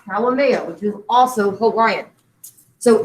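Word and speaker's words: Haumea: And the other one is pronounced Halimea, which is also Hawaiian.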